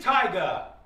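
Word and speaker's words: Tyga: It is Taigga.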